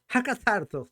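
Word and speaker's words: ἀκάθαρτος: Oiga, ¿cómo se dice? Hakatartos. Casi le llego, pero es que es griego.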